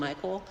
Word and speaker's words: Micole: brother named Cole, and so his mom named him Micole, so it's Cole and Micole.